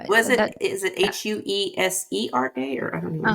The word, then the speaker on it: Huesera: Is it Huesera or Husara? I How are say you? it How are you saying it? Wesada. Wesada. Wesada. Huesera. Okay. Uh-huh. If I'm Was that. it? Is it Huesera, or I don't Uh know?